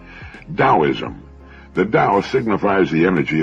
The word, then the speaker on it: Taoism: spelled t a o i m and often mispronounced taoism Daoism the Dao signifies the energy of the universe